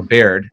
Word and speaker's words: Baird: ways, was Alfred Sherman Dupuy Beard, or Baird, probably is the better way to pronounce it.